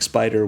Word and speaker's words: SP//dr: Now a teenager, Penny fights crime as Spider, which I can only assume is pronounced just like it's spelled.